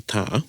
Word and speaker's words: weta: So if you looked up weta, which is a common mispronunciation, is that a word? Yeah. Yeah. For the New Zealand native beetle, we all know, or we think is a weta, but it's actually a weta.